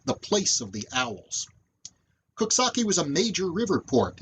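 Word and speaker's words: Coxsackie: on the west side of the river that's pronounced kuksaki and it comes from an algonquin word meaning the place of the owls kosaki was a major river port in the 19th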